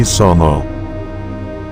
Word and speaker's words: Songo: Semula berawal dari ejaan huruf Jawa, kata A dilafalkan O. Jadi kata Sangha menjadi Songo.